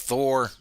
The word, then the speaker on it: Thor: Curtis Conrad says Thor rhymes with 4. That is correct. Thor rhymes with 4.